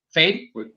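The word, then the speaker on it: Feyd: right yes yes and am i saying his name right phew ed is that how i say his name how do you say his name fade that character that that that sting plays okay fade uh and then it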